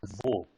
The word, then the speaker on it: wo: Just to correct the pronunciation, it is wo, right?